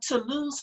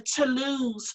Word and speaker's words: Toulouse: So this is the Toulouse pullover by Leah Thibault, and it was in the Knit Scene Winter 2012 magazine.